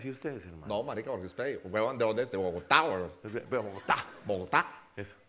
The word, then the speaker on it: Bogotá: Porque los rolos, como los juapis, sí, vale, pronuncian el ta, tiene que ser Santa Fe Bogotá. Bogotá. Sí, obvio. Así, y además como susurrado, Bogotá.